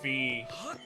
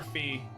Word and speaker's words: Fi: to whale on it is it pronounced fear or fi I call her fee I've never heard her referred to as fi I could be wrong though but I've always referred to her as Fe the one chosen by